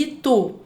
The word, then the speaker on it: Itu: Jacaré e itu. Você vai chamar o jacaré. Jacaré. Você vai chamar itu. Itu. Então são essas sílabas, as últimas sílabas, né? A última sílaba mais forte nessas duas palavras.